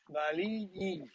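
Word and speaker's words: Valiliği: No, Valiji, because the G is silent.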